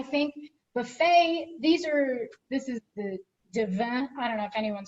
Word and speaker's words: Divine: Mine are more expensive kind of than the average professional clarinet, I think, Buffet, this is the divin. I don't know if anyone speaks French. It's spelled divine, but someone corrected me and said it's pronounced divin.